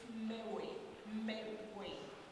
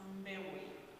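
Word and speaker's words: Mbewe: It's Mewe. M-B-E-W-E. So it's pronounced Mewe. Yes. So the first name is, and the surname is Mewe.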